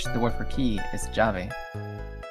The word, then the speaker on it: llave: It's spelled with 2 L's at the beginning, but it's not pronounced lave. It's pronounced llave. It's pronounced like a J? Kinda, yeah. Your double L's can be pronounced like Y's and J's, and your J's can be pronounced like Y's and H's.